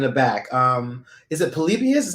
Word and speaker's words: Polybius: video game in the back um is it polybius is how you pronounce it yeah polybius that is a urban legend um that video